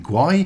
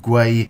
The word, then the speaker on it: gwei: this video for some reason i've been saying guai it is in fact gray is the correct pronunciation my apologies thanks very much for watching